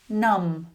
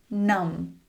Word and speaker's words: numb: Numb. Numb." You can see the "B" is usually silent when it comes after "M" at the end of a word.